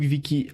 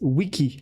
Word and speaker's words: wiki: No, it's wiki. It's wiki. You say it like wiki.